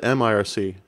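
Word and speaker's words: mIRC: do people say Merc I always said Mir see but I've heard people say Merc before but yeah I was a big MRC user back in the day as coral can attest used to say it like what Mercker Mir see this is one of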